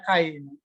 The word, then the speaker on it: chi: khan Square Distribusi Distribusi kas nulisnya CH Iya dibacanya kain biasa gitu ya ich.pdf yang